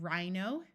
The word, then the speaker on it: rhino: silent John and Durham if a word starts with RH the H will be silent like in Rhino and Rhythm note that why in